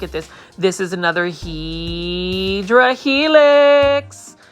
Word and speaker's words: Hedera helix: Now, for those that are new to the channel, hopefully it don't scare you in the way I pronounce Hedera helix, which is actually the correct way to say it.